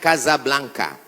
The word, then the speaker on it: Casablanca: Hasan dua di Kota Kasablanka ibukota Maroko tempat saya kuliah nama negaranya Maroko ibukotanya tulisannya Casablanca cara bacanya Kasablanka Kaza artinya rumah Blanca